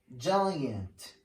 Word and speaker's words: giant: The general rule says if the letter after G is E or I or Y, the pronunciation is a soft G. J, J sound. Like in these examples, E, G plus E. Page, page. Change, change. General, general. Large, large. So G plus E make a soft G. G plus I. Like giant, giant, margin, margin, magic, magic, engine, engine. So here the sound is a soft G, J.